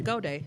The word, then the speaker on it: Goudia: You didn't say my last name right, though. Did I? Say it for me. Goudia.